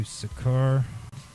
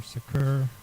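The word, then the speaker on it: Seker: now I'm going to do sakur s or sakur it's spelled s e k e r Capal S at the beginning s also spelled soar s o k r is a falcon God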